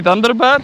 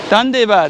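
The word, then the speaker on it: ধন্যবাদ: But how do you say thank you? Thunderbad? Underbeer. No. Dandebad. Dandebad. Yeah, Dandebad. There you go.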